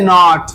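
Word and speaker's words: knee: এই যে আরো একটা নট দিলাম, এই যে নট।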